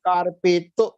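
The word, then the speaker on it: カーペット: Koreva carpeto des. Carpeto des. Their pronunciation is this. Carpeto.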